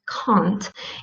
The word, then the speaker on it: can't: in english language and the common mistake when you want to say can't is to pronounce it with a short ah so the shirt ah like in the word blunt or stunt or front or stop so uh short